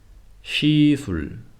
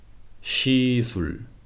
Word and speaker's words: 시술: Whereas in words like shower, shower, 시술, 시술, 쉬다, 쉬다, 시옷 is no longer s sound but sh.